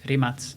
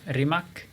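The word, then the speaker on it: Rimac: materimates i think in in their language it's pronounced rimaz but internationally known as rimak guy a bit my age or a bit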